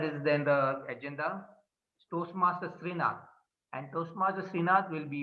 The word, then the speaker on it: Srinath: Timer, the details for timing details for Toastmaster Srinath are the same. Yeah, 5, 6, yeah, 7. Ridwan, just his name has been pronounced as Toastmaster Srinath, not Rinath.